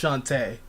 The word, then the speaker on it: Shantae: of a question is the old shantae shanti it's pronounced shantae but uh the old